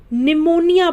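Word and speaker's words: pneumonia: आपको क्या बताया था जब भी पी के बाद एन आएगा तो वहां पर पी क्या हो जाएगा साइलेंट हो जाएगा यानी की वह पी तो रहेगा लेकिन पी बोला नहीं जाएगा तो इसे हम निमोनिया पढ़ते हैं तो यहां पर पी क्या है साइलेंट होता है इसे साइको एल ओ जी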